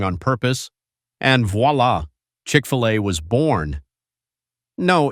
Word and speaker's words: Chick-fil-A: And voila, Chick-fil-A was born. No, it's not French. No, you're not supposed to pronounce the filet like it's on the menu in Paris.